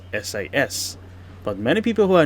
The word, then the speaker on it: SAS: I can access the SUS Gold Lounge with my economy class ticket. And yes, I know Scandinavian airlines should be pronounced as SAS.